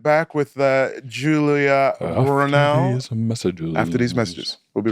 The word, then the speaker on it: Brownell: It's Brownell. Brownell. How do you pronounce Julia Julia's last name?